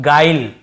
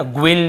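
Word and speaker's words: guile: देखिए इससे हम पढ़ रहे हैं गाइल, है ना, ग्विल या ग्विले ऐसे नहीं पढ़ रहे हैं, ई को भी लास्ट में नहीं पढ़ते हैं, केवल गाइल ऐसे पढ़ रहे हैं, गाइल। यहाँ पर भी ई साइलेंट है।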